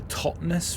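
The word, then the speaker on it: Totnes: If I'm pronouncing it correctly, this is where someone it's like a stupid British name and it's pronounced like tons or something like that. You know, pronounced the second T for some reason.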